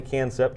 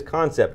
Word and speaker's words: Kansept: three months called concept i said it wrong originally can cept just like patrick rollins did before the show it is concept k-a-n-s-e-p-t we are looking right